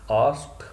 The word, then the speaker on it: asked: आपको बतलाया है, ASKED, आस्क का सेकंड फॉर्म आस्क नहीं होता, आस्क्ड होता है। ED साउंड ट साउंड में ट्रांसफॉर्म हो जाती है ब्रिटिश रिसीव्ड प्रोनाउंसिएशन के अकॉर्डिंग।